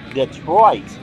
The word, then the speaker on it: Detroit: And he always would overpronounce the word Detroit. And so kind of fitting that I'd be doing this game in Detroit. He would pronounce that, he would elongate that second syllable.